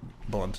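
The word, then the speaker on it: Blount: look him up Joe blunt b l o u n t blun is how you really pronounce it but blunt is how he says it but uh he used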